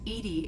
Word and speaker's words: EDI: Edy is the phonetic pronunciation of EDI. That is an acronym for enhanced defense intelligence.